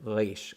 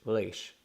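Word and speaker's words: ריש: any sort of accent, you want to say it resh, resh. Okay, and I'm sure different communities in the Jewish world pronounce this letter differently, but for the most part, it seemed like modern Israelis pronounce this as resh.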